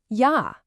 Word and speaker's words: Ja: So a simple word like "Ja" becomes "Ja". Don't let the visual of the letter J trick your mouth into that hard English "J" sound. Keep it a soft Y.